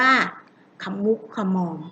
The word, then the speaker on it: ขะมุกขะมอม: นะ คะ อ่าขะมุกขะมอม ค่ะ อย่า อ่าน ผิด นะ คะ ไม่ ใช่ ขมุก ค่ะ มอง นะ คะ อ่าน ว่า ขะ มุก ขะ มอง ค่ะ คะ อัน ที่